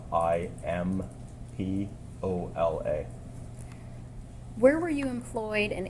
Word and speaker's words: Imbola: Can you please state your name and spell it for the record? Sure. My name is Imbola. Last name Imbola, Impola.